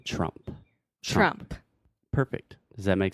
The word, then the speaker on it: Trump: And then finally, there is no vogal de apoio. So you don't want to say the E at the end. The last sound is the P sound, the P. So we're saying Trump.